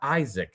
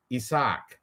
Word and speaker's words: Isaac: And it's not it's not Isaac. Nobody's saying Isaac, even though it's how it's spelled, everybody even like the when they called him out for the faceoffs, they said Isach.